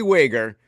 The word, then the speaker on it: Wager: Zach Wagger. Oh Is my Wag God. Well, technically Wager, but you know Wager?